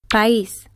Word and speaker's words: país: emphasis in the word, the weak vowel is assigned a written accent, and the two vowels do not form a diphthong. País. Pa, is.